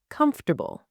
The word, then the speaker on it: comfortable: Most English learners say this, come, for, ta, bull, 4 syllables. But here is how native English speakers actually say it. Comfortable, 3 syllables. The middle disappears completely.